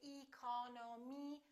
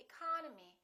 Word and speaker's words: economy: the first word economy the second syllable is stressed therefore this e and this o are reduced we don't say economy we say economy economy look at this